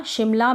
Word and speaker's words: शिमला: की मात्रा आई, और म में अ का उच्चारण नहीं होगा, आप बोल के देखेंगे शिमला, ऐसे नहीं बोल रहे, हम बोल रहे हैं शिमला, तो सिर्फ एम लिखेंगे, ए नहीं लिखेंगे, शिमला।